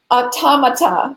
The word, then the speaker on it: automata: I don't crash this up too and he pronounced it automata correct gray very good so can you tell